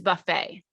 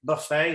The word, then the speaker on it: buffet: would probably go with Buffet as well British English the word would be pronounced buffet buffet with stress on the first syllable in American English the